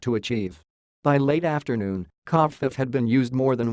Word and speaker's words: covfefe: Associated Press went with covfefe, suggesting a Spanish pronunciation, as did some others who suggested covfefe rhymed with chief, the Spanish word for chief, pronounced jefe. But others thought the second syllable should rhyme with leaf.